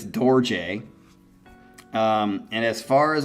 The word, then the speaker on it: Dorje: UK called DJ but it's spelled D o r j e and if he had not said in parentheses how to say it I probably would have it up just like everything else but it's DJ um and as far